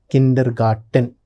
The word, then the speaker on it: Kindergarten: Kindergarten. That is the pronunciation in German.